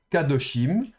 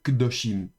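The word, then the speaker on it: קדושים: Donc au lieu de dire kadoshim comme on aurait pu le penser, on va dire kdoshim.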